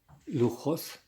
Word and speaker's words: Luxos: it is spelled l-u-x-u-s but in Spanish luchos foreign so I just spelled that l u x o s combination Lucas